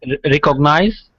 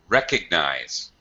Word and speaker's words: recognize: And notice the I's secondary stress.